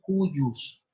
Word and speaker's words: cujus: En latín es el de cujus. De aparte C-U-J-U-S. Cujus, se escribe el de cujus o de cujus, como